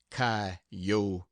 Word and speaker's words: coyotes: chinen Spaniards gamblers sharpers coyotes pronounced Cotes poets preachers and jackass